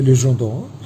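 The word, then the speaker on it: Légion d'honneur: এবং অবশেষে ফরাসি সরকারের নেপোলিয়ন কিছুদিন আগেই এই পুরস্কারগুলি শুরু করেছিলেন ফ্রান্সে, লিজন d'or, তো লিজিয়ন অফ অনার বা ফরাসি উচ্চারণে লিজন d'or।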